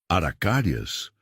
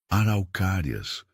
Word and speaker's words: araucárias: "Aracárias?" Miguel tentou repetir a palavra com sua pronúncia infantil. Arauccárias, Eduardo corrigiu gentilmente e Renata notou como